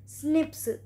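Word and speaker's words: SNP: date इसे called single nuclear right पॉलिनॉम prism pronounce स्निप अगर और हेमंत इसको हम क्या बोलते हैं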